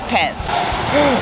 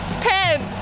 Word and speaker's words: Pence: It rhymes with sense. Pence.